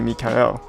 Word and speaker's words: Mikael: She's a she, and to pronounce her name, it's actually Mikael.